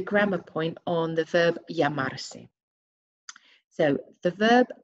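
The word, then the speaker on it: llamarse: you can practice that remember that double l is pronounced as a y so that broken down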